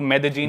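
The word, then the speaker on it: Medellín: Spelling में उसमें double L आता है। मेदलीन होता है। लेकिन कोलंबियन स्पैनिश में ल बोलते हैं। तो मेदजीन वो शायद उसकी मेन सिटी है ना उस कंट्री।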